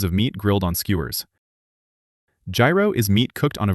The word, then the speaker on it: gyro: Now let's talk about gyro. And yes, we have to talk about the pronunciation. Outside Greece, people say gyro, gyro, hero, and probably a few other versions. In Greek, it is closer to gyro.